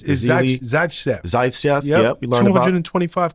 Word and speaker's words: Zaitsev: I can't pronounce his last name. It's Zaitsev.